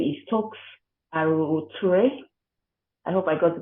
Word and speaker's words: Aruoture: Her name is Toks Aruoture. I hope I got the pronunciation right. Aruoture. Aruoture, it's correct.